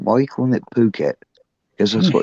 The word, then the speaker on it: Phuket: Phuket. I'd pronounce it with the F word. Yeah, you know, Martin, my mate Martin, who went down there, was calling it Phuket for ages.